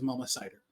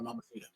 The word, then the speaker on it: Mama Cider: was her actual like Her actual name is Mama Cider. Like apple cider. Yeah. But because people pronounce it differently, they often call her Mamacita.